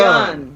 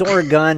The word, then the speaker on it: Oregon: walk through history for all our listeners in Oregon. Not Oregon. Wait a minute. Is it Oregon? Oregon. Ain't it Oregon? It's Oregon. Oregon. It's Oregon, Like- really? Pow pow. It's really Oregon.